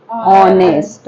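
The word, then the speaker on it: honest: एच इ silent okay ऑनेस्ट ऑनेस्ट यानी इमानदार नेस्ट नहीं बोलना है क्या बोलना है ऑनेस्ट okay so this sentence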